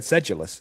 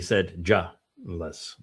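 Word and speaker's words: sedulous: what is the where where is the J sound in in sedulus? Right. Yeah. I I would have without the phonetic I would have said sedulus saidulus. Sedulus is that way I pronounced it and they wanted to be said julless.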